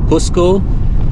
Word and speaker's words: Cusco: Spanish cus husco okay we will say it in Spanish then husco H and